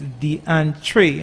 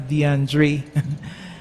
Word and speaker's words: DeAntre: It's DeAntre and not DeAndre.